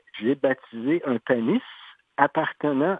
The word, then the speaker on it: Panis: Et puis, quand le curé les baptisait, il écrivait « J'ai baptisé un panis appartenant à... » parce que avec la prononciation française, Pawnee devenait Panis.